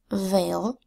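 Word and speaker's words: veil: letter phonogram e i the e i phonogram makes three long vowel sounds it makes the long a sound a as in Vale the long e sound e as in seas and the long I sound i as in feisty so I can say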